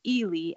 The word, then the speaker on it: Ely: Kristen and I live actually it's pronounced Ely Iowa but that is a common mistake I live in Ely